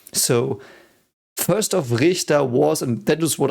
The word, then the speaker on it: Richter: Richter. CH is so it's pronounced a bit weirdly. But Richter, man, I was really,